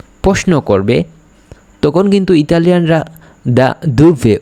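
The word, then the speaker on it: da dove: কোথা থেকে, আপনি কোথা থেকে এসেছেন যদি কেউ প্রশ্ন করে, তখন কোথা থেকে যখন প্রশ্ন করবে তখন কিন্তু ইতালিয়ানরা দা দুভে উচ্চারণ করবে।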